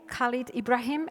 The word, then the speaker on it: Khalid Ibrahim: So my pronunciation is okay with your name, Khalid Ibrahim. Is it correct pronunciation?